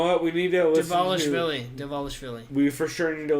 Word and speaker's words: Dvalishvili: Chris, I'll let you pronounce this one. Merab Dvalishvili. Sure. Dvalishvili? I have no fucking clue. I have no idea. Dvalishvili.